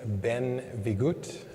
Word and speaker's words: benvingut: I've been told it's not bienvenidos, it's benvingut, is how you say it in Catalanian.